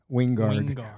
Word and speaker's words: Wingard: movie I just finished with him and he pronounces his name Wing Wingard winguard yeah so anyway so um anyway getting